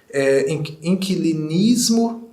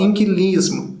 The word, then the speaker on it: inquilinismo: muitas vezes come pála é a pronúncia certa é inquilinismo mineiro comigo ning e fala Aline fala Aline aí fala inquilismo talvez sem querer eu